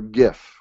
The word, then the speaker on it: GIF: in jpegs ping or GIF or GIF depending on how you like to pronounce that um I like the